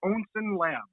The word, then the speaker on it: Onsen Labs: We pronounce it Onsen Labs.